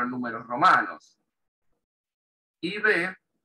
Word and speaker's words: IV: IB, en inglés IB, ¿por qué? Porque la I latina en inglés se pronuncia I, el diptongo A-I, I. Y la B corta se pronuncia V. IV bag.